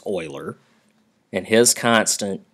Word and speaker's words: Euler: last name of euler that's how this is pronounced euler it looks like euler but it's euler and his constant e which stands for euler